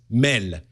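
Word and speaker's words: mél: world word uh mail which is Mel it's basically a transcription of the way you pronounce male when you misread it as a French personel it's ridiculous yes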